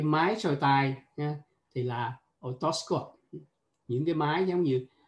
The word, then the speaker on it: otoscope: Nhưng mà cái máy soi tai thì cũng vậy, nhưng mà mình không phát âm là otoscopic mà chúng ta phát âm là otoscope. Otoscope.